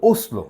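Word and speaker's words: Oslo: নো বুর ইয়াই ই অসলো হ্যা ওসলো ওসলো উচ্চারণটা হয় ওসলো হ্যা ই মারবাইন মারবাইন তার মানে কি এটা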